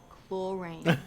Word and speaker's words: chlorine: And it's pronounced chlorine. The ch is a k.